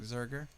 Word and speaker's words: Zurcher: recording my friend sup Eric zinger in the house or Zurcher my bad I said your name wrong but Eric Zurcher nice to see you